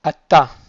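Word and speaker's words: אתה: Donc c'est un tav qui est fort, atta. Et pour la forme féminine, on va pas du tout le prononcer parce qu'il y a un sheva en dessous du tav. Donc on dira juste at. Atta pour le masculin, at pour le féminin.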